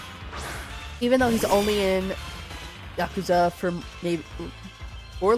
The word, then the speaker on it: Yakuza: Is that yakuza? Is that how you say it? I feel like the yah is not it.